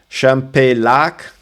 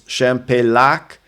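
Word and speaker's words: Champex: Champ lac. So you don't say champlac, it's champak. Uh this is another challenging one.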